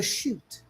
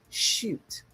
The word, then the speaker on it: Shut: name, my friend, the chute. S H U T. And you spell it with a line over the U. Shoot.